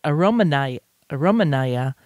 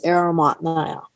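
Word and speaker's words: Aromatnaya: chings or the kuganskayas i was pronouncing as aromanai romanaya and but that's not correct i had someone who uh volunteered for a day or so who spoke russian and she told me it's aromat nia right and so that's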